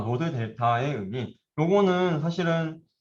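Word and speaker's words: δ: 여기 보시면은 W5에서 W5를 우리가 업데이트 할 때 쓰였던 얘가 델타 5원이 얘를 이제 델타라고 읽습니다.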